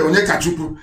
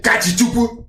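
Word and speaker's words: Onyekachukwu: His name is Ibe Onyekachuku, but he doesn't want to sound Igbo. So he will say his name is Ibe Kachichuku.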